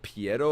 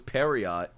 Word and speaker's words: Pierrot: Studio Pierrot was founded in 1972 That's how you say it? Piero? I thought it was Periot.